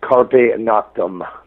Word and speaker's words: Carpe Noctem: I don't even know if my Latin is proper, but it's Carpe Noctem.